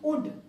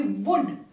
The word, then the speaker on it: wood: Then, similarly, wood becomes wood, because it begins from O. W, they ignore. It begins, the pronunciation begins from O and it becomes wood, which is wrong again. It should be wood. Wood.